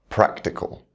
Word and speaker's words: practical: Words ending in ical, practical.